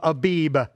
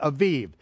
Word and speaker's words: Aviv: say the month of Abib. Okay, I don't care whether you pronounce it with the vet or the bet, it really doesn't matter. Jews today pronounce it with the vet, okay, Aviv.